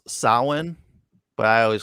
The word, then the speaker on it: Samhain: it was so good oh yeah valerie it's pronounced samhain but i always call it samhain because that's what it looks like yeah all